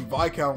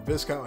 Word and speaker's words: Viscount: got amazing chips like the by count or Viscount however you want to pronounce it I preferably call it the Viscount oh my god that